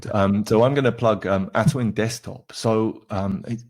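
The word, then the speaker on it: Atuin: So I'm going to plug Atwin Desktop.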